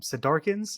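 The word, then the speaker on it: Sardaukar: I don't remember how you say the name SED darkens is how you say it Sardar sardars okay what I say anyway um but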